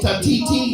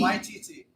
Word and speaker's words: Waititi: Pretty sure it's pronounced Taigo Tatiti? Waititi. Patiti?